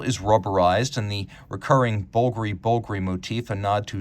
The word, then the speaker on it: Bulgari: the wise despite the romanes spelling it is pronounced bulgary you'd be amazed at how many people I encounter who ask me about bger it's stylized to disguise the decidedly non-italian origins